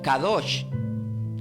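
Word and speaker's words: קדוש: Y santo decimos Kadosh, cada kilo A-D-O-S-H. Pero si pronunciamos continuadamente Espíritu Santo, es como que yo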